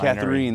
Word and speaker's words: Catharine: Catharine, that's right. The pronunciation is important.